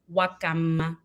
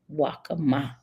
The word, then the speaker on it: Nwakanma: Think of Wakanda in Black Panther and they replace the D with an M. Wakama.